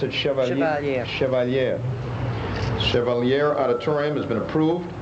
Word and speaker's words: Chevalier: Center Auditorium grant funds for the, do you pronounce it Chevalier? Chevalier.